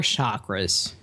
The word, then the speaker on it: chakra: For the listeners, just to kind of get us started, what are chakras? Okay, the word is pronounced chakra, and that word is a Sanskrit word, comes from India.